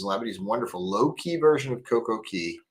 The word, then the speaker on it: Coco Cay: Says Labadee is a wonderful low-key version of Coco Key. K. I've been so good about calling it Coco Cay because that's what Royal Caribbean calls it on the hold music.